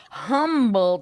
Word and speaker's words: Humble: I know, but I the love H the is the H is silent. It's humble.